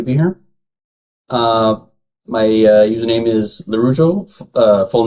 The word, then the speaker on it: Laraujo: Rujo? Laraujo. Araujo. Oh, gosh. Okay. It's literally just as it's spelled in the Okay.